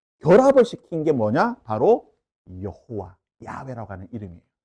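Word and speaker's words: 야훼: 했을 때 야외가 가장 정확한 발음이라고 생각합니다.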